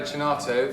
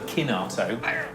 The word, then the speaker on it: Chinato: I got my pronunciation right. This is the Burello Chinato from Capilano. It's Burello Kinato from Capilano.